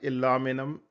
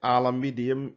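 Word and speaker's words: aluminium: can hear it aluminum both of them are right aluminum is uh American pronunciation alamedium is and uh is a British one so don't hesitate by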